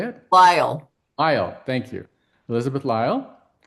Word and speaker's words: Lyell: Lyle.